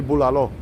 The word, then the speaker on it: bulalo: uh Karina Thompson well I said Bola it's actually bulalo I'm pronounced a pretty